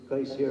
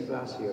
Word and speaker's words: glacier: there you see the glacier over here this is the grace glassier or Glacier um Americans say Glacier because it's graer but we Brit say glassier because in classier just what you say so here here we